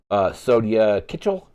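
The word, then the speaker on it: Sonya Kitchell: Track 12 is All I Want, which features Sonia Kitchell. So that's how that name is pronounced.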